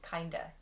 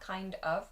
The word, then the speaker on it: kind of: You'll also notice that the pronunciation there changes to kinda. Not kind of, but kinda.